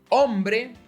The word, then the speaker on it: hombre: This means that you'll often encounter words like hombre, hambre, ahogar, and hierro. Hombre, not hombre. Hambre, not hambre. Ahogar, no. Ahogar. So, notice how there's an H in these words, but there's no difference in their pronunciation?